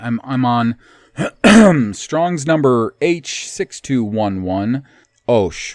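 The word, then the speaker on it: עָשׁ: I'm on Strong's number H6211, Osh, which they, of course, pronounce ash.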